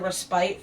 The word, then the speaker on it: respite: meal in a field was connected with the respite from hunting from the Middle Ages so they